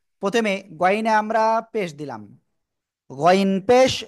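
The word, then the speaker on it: غين: গইন। গইন, তিন আলিফ টেনে পড়তে হবে, ঠিক আছে?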